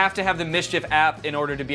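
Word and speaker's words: MSCHF: Again, Mischief is spelled M-S-C-H-F. Thanks to Mischief for sponsoring this video, and thank you to you guys for checking out Mischief.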